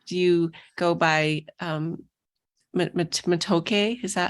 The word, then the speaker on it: Matoke: go by or do you go by um matoke is that how you say it yeah well